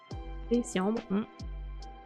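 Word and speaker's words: d'Essiambre: Comment on le prononce? Dessiambre.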